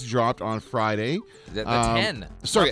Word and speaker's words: iPhone X: in brackets it said it's pronounced 10, not EX.